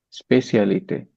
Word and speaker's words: spécialité: And speciality is, how do you pronounce Spécialité. speciality? Spécialité.